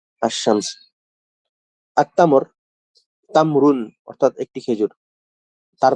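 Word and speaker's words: التمر: আত্তামর, তামরুন অর্থাৎ একটি খেজুর। তার পরিবর্তে যখন আমরা এখানে আল প্রবেশ করবো আত্তামরু, তখন কি হবে? আল উচ্চারণ না হয়ে সরাসরি তাটা উচ্চারণ হয়েছে, লামটা উচ্চারণ হয়নি।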